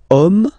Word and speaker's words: homme: And then here we've got the word homme, man, okay, but then it starts with H, as in French H is not pronounced, so the first sound that we hear is O, okay, and then it will follow the same rule.